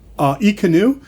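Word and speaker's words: Ekanoo: E-Canoe. Oh, E-Canoe, is that how you pronounce it?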